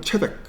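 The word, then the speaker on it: צדק: 세덱은 원래 이제 그 원어 발음은 체덱 이렇게 되는데 그래서 이 멜기세덱을 그대로 직역을 하면은 나의 왕은 의다 또는 의의 왕이라는 그런 뜻입니다.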